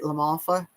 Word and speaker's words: LaMalfa: Doug Lamalfa, it's weird because it looks like mafia but it's Lalfa. Am I saying it right? Lamalfa.